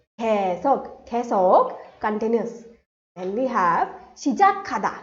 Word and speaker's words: 계속: So how do we pronounce this? 개. So Y sound would be omitted. 계속, 계속, continuous.